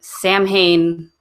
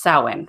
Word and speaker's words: Samhain: have since been corrected we were saying Samhain the entire time and it's pronounced sewing which I really should have remembered because an eminent H together make a W sound I don't know how